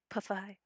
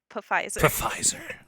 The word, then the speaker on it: Pfizer: or the Pfizer. Pfizer. In Germany, they pronounce the P's.